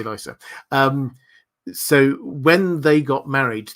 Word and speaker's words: Lysa: Lysa, this was, incidentally, George R. R. Martin pronounces it Lisa, in case you wanted to know. He doesn't care how you pronounce his characters' names, but yeah, I always find it amusing when he pronounces a character name completely differently to how we do. But yeah, I say Lysa.